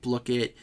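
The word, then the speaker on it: Blooket: Let me mute my thing here because Blookit does not like to mute itself. By the way, I found out that the official pronunciation of this today is Blookit, like blue.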